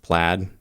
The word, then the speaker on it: Plaid: you're in the us plate is pronounced plaid okay yeah you have